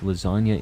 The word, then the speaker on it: lasagna: Because the real G's are moving in silence like lasagna. It's a metaphor, you silly goose. I understand. I understand G is silent in the word lasagna.